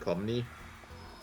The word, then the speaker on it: Pomni: play Xenoblade 2 long enough to unlock Pomni? Yes. Okay. And it's Poppy, not Pompey.